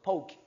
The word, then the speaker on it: poke: 이거는 알이 없어. 알이 없으니까 발음이 뭐라고? poke. poke. poke.